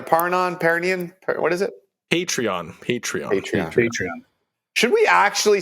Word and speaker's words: Patreon: in new segment idea hipster Jimmy mispronouncing new technology and Trends hasharon panon paron what is it called again a paron Peron what is it patreon patreon patreon should we